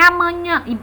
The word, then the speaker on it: amanhã: Já na palavra amanhã, coincidiu na vogal tônica, da sílaba tônica nhã, também cai na mesma sílaba onde há o sinal gráfico tio, né?